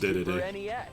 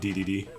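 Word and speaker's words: Dedede: very first action adventure it is actually pronounced day-to-day not ddd with a total of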